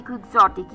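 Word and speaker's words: quixotic: क्यू यू आई एक्स ओ टी आई सी क्वग्जोटिक ये एक adjective है जिसका मतलब होता है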